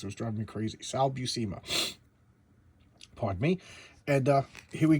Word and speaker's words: Sal Buscema: I actually looked up his pronunciation because it was driving me crazy. Sal Buscema.